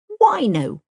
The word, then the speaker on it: Wino: So, we called him Wino and it rhymes with Dino.